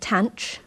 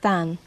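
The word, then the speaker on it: tanh: like this and again there are two possible pronunciations for this some people call it tanch but I in this video will call it than and we Define it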